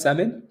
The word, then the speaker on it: salmon: If so no hell, it's pronounced salmon.